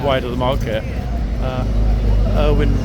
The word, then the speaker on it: Erwin: Erwin, or Irvin as they pronounce it, Rommel.